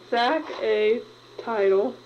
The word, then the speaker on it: saxatile: This word is sack a title. We spell it S-A-X A-T-I-L-E.